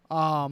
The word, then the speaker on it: Bournemouth: Versus Bournemouth, Bournemouth. Whoa. Bournemouth. Born. Like Jason Bourne and then Bournemouth.